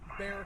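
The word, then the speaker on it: Bexar: is pronounced proper well look at look at Bear County yeah and Bernie b o r n e this is what happens when you try to speak Spanish English and German at the same time you know well German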